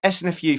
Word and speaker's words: SNFU: it is first right it's snfu from Canada that's how you say it yeah it stands for